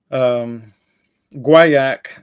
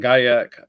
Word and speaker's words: guaiac: dependent for those reasons guaiac is the correct French pronunciation and guy ik I believe is the correct or if I have that reversed at any rate whatever